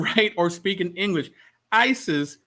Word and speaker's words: Isis: Isis was not the way the Egyptians pronounced the name of this goddess. The pronunciation comes from Greek and Coptic languages that come into biblical world centuries after Hebrew. The Egyptian pronunciation of the name of this goddess was something like Waset or Osset.